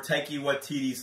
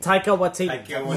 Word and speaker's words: Taika Waititi: Or Taiki Waititi's Thor Ragnarok. Yeah, the costumes, the uniforms. I'm sorry, I cannot... I can't pronounce this guy's name. Every time I try... Taika Waititi.